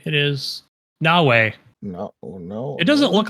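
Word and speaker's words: Naoe: It is Nawei. No, no, it doesn't look like it, but that's how it's pronounced.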